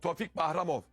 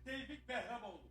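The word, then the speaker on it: Tofiq Bəhramov: Tofik Bahramov. Tabii yok. Tofik Bahramov. Öyle diyorlar orada. Tofik Bahramov. Tevfik Behramoğlu. Tevfik Behramoğlu ama Tofik Bahramoğlu. Eee, Azerbaycanlı kardeşlerimiz, e, böyle telaffuz ediyorlar.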